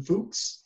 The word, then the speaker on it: Fuchs: Okay, so our final presentation today is from Fuchs. Fuchs, did I say it right? You did, yeah. All right, Fuchs, who's a research associate